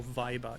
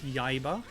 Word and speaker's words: Yaiba: Gibbon asking, is it Yaiba or Viber? It's Yaiba with a Y for yak.